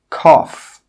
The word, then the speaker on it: cough: Another rule with GH is that sometimes GH is pronounced as an F sound, that F sound. Some common examples are cough, laugh, tough.